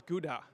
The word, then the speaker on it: Gouda: Um, actually I live close to a place that you probably know as Gouda from the cheese. We pronounce this kha actually, but it's uh I live three kilometers from there.